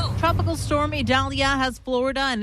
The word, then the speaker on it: Idalia: We'll continue to bring you the latest information with regards to Tropical Storm Idalia, or Idalia, as we're told it is pronounced, even though it starts with an I.